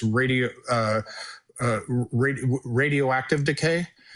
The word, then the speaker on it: radioactive decay: a physicist even though I was I was mispronouncing it. I called it raditric decay. It's radio uh uh radio radioactive decay.